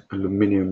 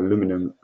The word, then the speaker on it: aluminium: parameters, my material will be aluminium, or aluminum as the Americans say, 6061, So that's driven straight from the materials I have inside Inventor.